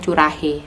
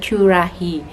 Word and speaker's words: Currahee: Terus belakangnya itu dikasih Curahi ya bacanya. Tapi teman-teman biasanya bacanya Curahi, tapi yang aslinya itu bacanya Curahi.